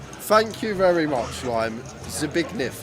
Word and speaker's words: Zbigniew: Zbigniew, it's pronounced. There we are. Ricky said it's pronounced Zbigniew.